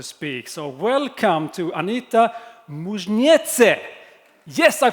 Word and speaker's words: Muižniece: of course to speak so welcome to anita mujnetse yes i pronounced it correctly welcome on stage you